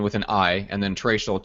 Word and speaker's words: Traichel: an i and then trachel t r a i c h l correct yes it's pronounced Rachel with a t yep perfect all right